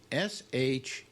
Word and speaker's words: Shapiro: The other thing I have problems with her is the name Shapiro is pronounced what?